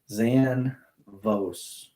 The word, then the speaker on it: Zanvos: That company off Instagram, Zanvos. So it sounds exactly like it's spelled off Instagram. They make these metal signs for whatever industry you're in as far as owner operators go.